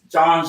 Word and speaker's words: Jean: he did good yeah john yes like the creole friends version of john but yeah that's good yes it's john john look and dream of